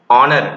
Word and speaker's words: honor: If you know that it is called honor, not honor, so you have to use n. This is called hour, not hour. If you pronounce hour, so definitely you have to use a, but it is not hour, it is hour.